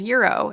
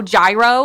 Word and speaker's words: gyro: And I was like, "Oh, I got, I think I had falafel that day," and his is Euro. And she corrected me, and she was like, "Oh, gyro," and I was like, You said it "You wrong, work man.